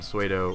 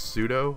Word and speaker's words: pseudo: I think Metagross is like the only non-dragon suo in the entire metag game so Aggron should